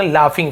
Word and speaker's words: laughing: जाएंगे, द लाफिंग stock, लाफिंग जी नहीं पड़ेगा, लाफिंग फ उच्चारण निकलता है, लॉगिंग ऐसे नहीं पढ़ेंगे, लाफिंग, लाफ है ना,